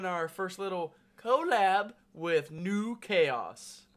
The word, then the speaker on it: NuKhaos: We are doing our first little collab with NuKhaos. That's N-U-K-H-A-O-S, spelled like Good Burger. Pronounced the same way. It's French. It's exactly the same.